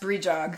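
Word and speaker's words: Brídeog: It's called it's pronounced brijog.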